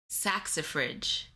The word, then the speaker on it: saxifrage: I need a pronunciation. Hi, Debbie. Saxifrage.